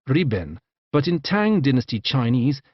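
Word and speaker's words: 日本: country in japanese nippon in modern mandarin this is pronounced riben but in tang dynasty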